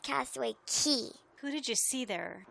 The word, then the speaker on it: Castaway Cay: Everybody calls it Castaway Cay, but it's actually pronounced Castaway Key.